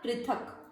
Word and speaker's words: पृथक: पृथक। वापस देखेंगे इसको उच्चारण को।